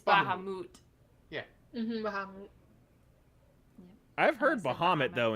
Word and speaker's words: Bahamut: you're right you're right there's a final fantasy pronunciation that I have wrong for the longest time was Muhammad it's Baha moot yeah I've heard Muhammad